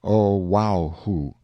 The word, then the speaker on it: Oahu: him after this island Oahu pronounced oaho the first gate he